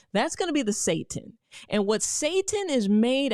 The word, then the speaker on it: seitan: The soy-based type, the seitan based type, it's Seitan, you know, I don't know, but you pronounce it seitan, which I think is a terrible name for anything that could possibly be good for you.